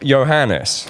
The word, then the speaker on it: Johannes: every time i interview someone i get their name wrong so johannes yeah correct yes right that's absolutely fine no